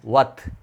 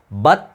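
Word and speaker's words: වත්: என்னவாத் பே வரக்கூடம் முடியாது இதை வ என்று உச்சரிக்கணும் வத் வத் பத் என்று உச்சரிச்சீங்கன்னு சொன்னா அல்லது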